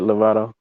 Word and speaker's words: Lovato: That's it, Lovato.